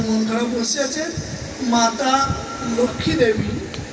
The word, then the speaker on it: লক্ষ্মী: মাতা লক্ষ্মী দেবী, আমরা বাংলা ভাষায় লক্ষ্মী বলি, লক্ষ্মীটা শুদ্ধ উচ্চারণ না, লক্ষ্মী।